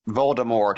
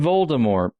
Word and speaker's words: Voldemort: out, I am Lord Voldemort. And He that's spent weird. a Saturday on that. Which means the silent T is only there because he needed that extra letter.